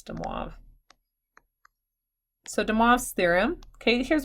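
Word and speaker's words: De Moivre: French not as much I'm pretty sure that's de moi so demas theorem okay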